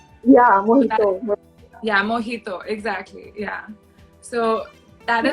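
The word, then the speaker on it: mojito: ola but the the letter j is actually pronounced with a her sound yeah yeah mohito exactly yeah so that is the alphabet in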